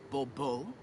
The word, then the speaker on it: Bobo: I expect you to address me as sir or better yet as Msure de Bobo. Fine. Mure debo. The emphasis falls on the last syllable. Bobo.